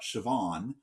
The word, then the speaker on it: Siobhan: Uh but sometimes it goes to W instead. So you've got Siobhan, but you could have shan and it just depends a little bit on dialect sometimes.